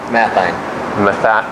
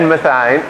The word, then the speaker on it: Mathien: Mathien. Mathien? Mathien. I was thinking Mathien. Math and then Einstein. Okay. Yeah. Ed Mathien.